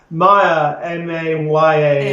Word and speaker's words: Maya: say the ours you know there we don't pronounce the eyes um Maya m a y a is a Sanskrit word for illusion yes and